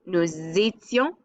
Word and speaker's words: étions: Nous étions, vous étiez. You have an extra little I in here, so it's not just ONS easy, it's IONS, I-easy.